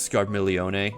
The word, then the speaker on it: Scarmiglione: cagnazo Barbara riccio rubicante I guess it's pronounced scar milione in this game but I haven't just